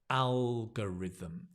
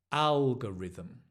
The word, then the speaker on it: algorithm: the algorithm so again notice the stress on the AL algorithm and the this is a g g not go but G algorithm slow down algorithm algorithm